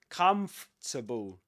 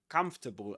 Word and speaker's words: comfortable: jetable come for but don't let the word trick you. That's not the way English works. So you will actually say this comfortable comfortable and you don't pronounce this one. And the same applies to vegetable. You don't pronounce this letter.